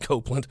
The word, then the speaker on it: Copeland: Oakland, rhymes with Oakland. The other day, Kenneth Copeland. Oh, I was like, what? I said it rhymes with Oakland, Kenneth Copeland.